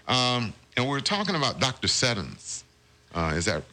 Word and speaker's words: Seddon: Seddons.